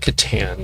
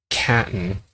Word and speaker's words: Catan: But it's kind of like Catan, if you've ever played that, or Catan, however you pronounce it. Pecan, Catan, Catan. As long as it's not Caton, you replace this, anyhow.